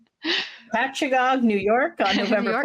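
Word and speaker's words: Patchogue: Patchagog is how I've been told it said. Patchagog, New York on November York.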